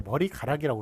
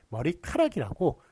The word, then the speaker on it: 머리카락: 기니까 머리에 가락이 붙었는데 머리가락이라고 그러는 게 아니라 머리카락이라고 그렇게 히읗이 더 덧붙는단 말이에요.